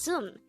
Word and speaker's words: 습: a b of character but take note that this is pronounced as sum because there is a neon character on the next syllable which is ni again it's zoom not